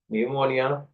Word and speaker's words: pneumonia: also start from P but p is silent like psychology pneumonia you a lot of